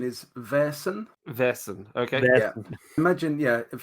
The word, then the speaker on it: Vaesen: uh the pronunciation is Veron Veron okay imagine yeah if he imagine it's spelled v a i r s that's the way it should be pronounced I just with a